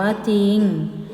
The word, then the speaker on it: จริง: เช่น จอ ยุ นอา จริง อ่าน ว่า จริง ไหม ต้อง เขียน